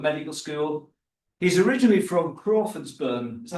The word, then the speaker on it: Crawfordsburn: He's originally from Crawfordsburn. Is that how you say it? Yeah. Crawfordsburn, in Northern Ireland.